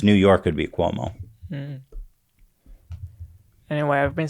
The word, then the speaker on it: Cuomo: or how do you say his last name Cuomo Cuomo the governor yeah of New York yeah